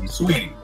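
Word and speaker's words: Saweetie: Is it Sorty or Sweetie? What is her name? Yeah, Sweetie. The A is silent.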